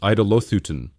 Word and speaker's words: Eidolothyton: Eidolothyton, pronounced Eidolothyton, a compound word combining eidolon, idol, with theo, to sacrifice.